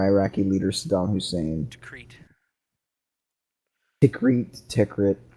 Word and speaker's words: Tikrit: Tikrit. It's pronounced Tikrit.